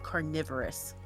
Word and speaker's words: carnivorous: The reason why carnivore versus carnivorous is pronounced differently is because the e is silent and like what is it? It changes the i sound. And that is why it's carnivore and carnivorous.